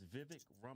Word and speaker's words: Vivek Ramaswamy: It's Vivek Ramaswamy.